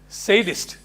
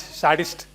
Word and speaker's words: sadist: It is pronounced sadist, not sadist.